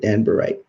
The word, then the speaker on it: Danburite: That's the correct way to say it, Danburite.